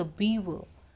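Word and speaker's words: beaver: पता दे हाउ द बीवर build their lodges अब बीवर क्या होते हैं सबसे पहले तो उ बीवर नहीं बोलते हैं इट्स बीव मतलब बीव बोल सकते हैं हम र इज साइलेंट हियर ठीक है और यह उद्बिलाव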